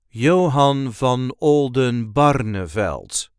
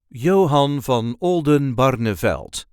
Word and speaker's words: Johan van Oldenbarnevelt: Johan V Olden barel there is a light emphasis on the third syllable of his second name name Johan Van Olden barnavelt yoen bar Johan V Olden barnavelt Johan V Olden barnavelt